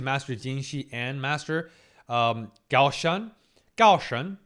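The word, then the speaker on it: Gaoshun: Gaoshan, that's actually the Chinese proper pronunciation.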